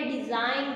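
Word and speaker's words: design: और next one है डिज़ाइन। डिज़ाइन में भी ग साउंड जो है वो क्या है हमारी साइलेंट है।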